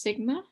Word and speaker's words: sigma: looks like a sideways six uh this is pronounced sigma and to do this we have a massive